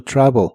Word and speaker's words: travel: La e de travel es muy suave y suena casi como o.